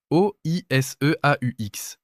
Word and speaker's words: oiseau: Regarde un mot comme oiseau. O-I-S-E-A-U-X. 7 lettres. Et on dit oiseau.